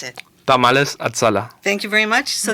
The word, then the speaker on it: Tamales Azala: and I'm here by the owners of you pronounce it tamales atala thank you very much so this is Jose